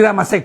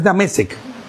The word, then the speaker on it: Damesek: Porque normalmente puede decir Damasek, pero es Damesek.